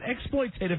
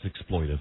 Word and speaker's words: exploitive: Is it exploitative or exploitive? I think it's exploitive? I think it's exploitive. You're the word man. Yeah, because it's exploitive. Yeah, not the extra syllable is not a word.